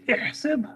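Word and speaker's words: إحسب: الف پہ کیا ہے؟ الف کے نیچے زیر ہے. بس ایسا بولیے جی. احسب، پھر بولیے 3 بار بولتے جائیے.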